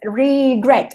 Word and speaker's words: regret: que en la otra por ejemplo regret tú dices regret el acento la fuerza la tiene la última sílaba si este verbo con